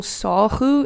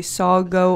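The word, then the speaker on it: sagu: Oh, and if you're wondering what I'm having what we call sahu. In English, you might say sago or Sego, but we call it Sahu. We pronounce the G as a kh, so yeah.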